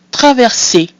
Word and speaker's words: traverser: So we have A, which is pronounced A. We have E, followed by two consonants, which is E. And then because this is a verb, the ER at the end is pronounced E. That gives us traverser.